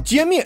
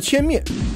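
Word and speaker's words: 歼灭: 的做法，把歼灭读成了歼灭，疫情歼灭战。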